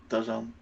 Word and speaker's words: DAZN: You have to say it like that, by the way. DAZN.